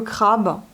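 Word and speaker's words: краб: Crabe, c'est le crabe. Et là, vous avez la consonne sourde. On entend comme P alors que c'est un B.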